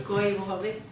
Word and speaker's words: Koivuhovi: Okay, so my name is Koivuhovi, and I come from the you want to pronounce that, the last name slowly? Koivuhovi.